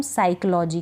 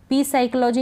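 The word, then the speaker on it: psychology: का उच्चारण नहीं होता अब इसको हम पढ़ेंगे निमोनिया पी निमोनिया नहीं पढ़ेंगे निमोनिया अब इसको पढ़ेंगे हम साइकोलॉजी क्या पढ़ेंगे एस से शुरू होगी ये स्पेलिंग लेकिन पी तो लिखा जाएगा पी साइलेंट है इसमें ये आपको ध्यान रखना है पी साइकोलॉजी नहीं पढ़ेंगे साइकोलॉजी और इसको निमोनिया इस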